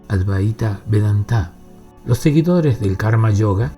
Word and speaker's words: Advaita Vedanta: Para concentrarnos en lo "recomendado por el ADVAITA VEDANTA, (que aquellos que saben pronuncian Advaíta Vedantá) Los seguidores del Karma